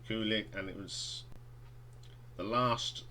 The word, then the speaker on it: Kulick: band's final album with bruce kulick or kilik depends on how you pronounce it i say kulik and it was the